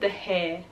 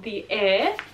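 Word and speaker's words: The Heir: When I brought this book, I literally said The Hair. That's really stupid of me, but The Air, I'm saying it right this time.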